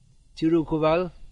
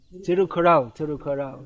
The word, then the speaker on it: Tirukural: In your Tamil Nadu, there's the Tirukuval. Is that how it's pronounced? Tirukovil. Sorry, my Tamil pronunciation never got off the ground. Probably won't in this lifetime. So it's Tirukovai is something else. Tirukural, that's it.